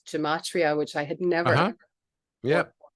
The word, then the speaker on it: gematria: to me something called Gematria which I had never yeah sometimes pronounced Gematria as well ichamatria thank you so would